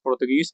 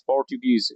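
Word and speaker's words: Portuguese: तो don't pronounce पुर्तगीज, पोर्चुगीज, इट इज़ a correct pronunciation.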